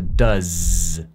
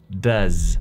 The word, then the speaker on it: does: Does se pronuncia como con una Z en lugar de dos. Se dice does, does.